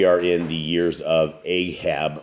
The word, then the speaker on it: Ahab: in the years of Ahab or aab as they as his proper pronunciation is and um you